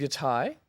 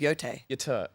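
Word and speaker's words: Yōtei: Ghost of Y Thai. I've never heard anyone pronounce it that way. I've heard everyone else. Oh, you said it wrong. It's Ghost of Yay.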